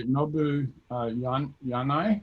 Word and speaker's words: Nobuhiro Yanai: The first one is by Nobuhiro Yanai, I believe is the way you pronounce it, maybe not. Right, it's correct.